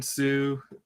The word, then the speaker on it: Hsu: Kevin Sue and Michael Bailey did that study. That was at Northwestern University. Okay. Yeah, if you could look up Kevin Sue. His last name is spelled HSU.